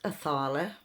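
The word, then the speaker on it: Othala: letter o in the English alphabet um it's pronounced aala it's it's goddess energy which is abundance so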